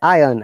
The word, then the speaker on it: iron: In British accent, we say iron. R is not there.